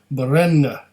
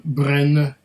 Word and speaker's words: Brenne: is our bottle of berena or Gren I I don't I think this the second e is silent so there might be a little at the end I don't know but it's easy enough